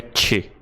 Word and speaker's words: Choi: Esse sobrenome, que se escreve C-H-O-I, se pronuncia Che. Sim, é parecido com o Che dos gaúchos, mas tem um arzinho junto, tá ligado?